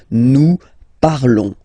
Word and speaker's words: nous parlons: Okay, remember final s is not pronounced. Okay, and then this on together, they will give you the sound on. Okay, nous parlons, nous parlons.